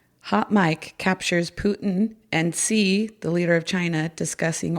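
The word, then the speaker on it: Xi: And um Putin and I believe you pronounce it C, the leader of China.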